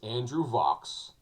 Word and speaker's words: Vachss: his belt too so his name is andrew vox that's how you spell it you want to go